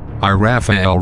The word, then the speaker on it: iRaphahell: mine some I Raphael I Raphael rhymes with gazelle gazelle gazelle has seven